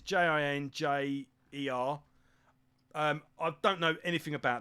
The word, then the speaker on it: Jinjer: She's in a band called Ginger. I think that's how you pronounce it. It's Jinjer.